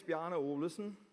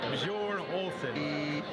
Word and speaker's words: Bjarne Olesen: My name is Bjarne Olesen, and there you have the first problem. How do you pronounce my name?